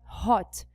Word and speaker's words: hot: Por exemplo, na palavra hot, o H não é mudo. A palavra não é hot, a palavra é hot. É como se fosse um som de R.